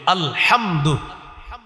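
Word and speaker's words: الحمد: হামজা লাম জবর আল হা মিম জবর হাম দাল পেশ দু আলহামদু এই যে আপনি আলহামদু শিখলেন উচ্চারণ করলেন দেখেন আপনি হামজা লাম জবর আল হা মিম জবর হাম দাল পেশ দ আলহামদু পাঁচটা অক্ষর এই পাঁচটা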